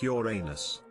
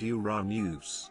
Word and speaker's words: Uranus: that makes it funny where i live it's said like your anus as a child i always said uranus never heard uranus until i was an adult be honest you said